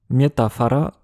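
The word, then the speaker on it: метафара: Comme en russe, le O non accentué devient a mais là c'est reflété dans l'orthographe comme dans le mot pour métaphore miétapara écrit avec un a.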